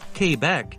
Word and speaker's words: Quebec: the province of quebec which is pronounced quebec that number is close